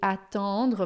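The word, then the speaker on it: attendre: O a atandra, esse e i n, você vai fazer sorrindo para sair esse atendra, tá? Atingir é atandra e atondre mais fechado. Atondra, você vai imaginar como se fosse um a posterior aí.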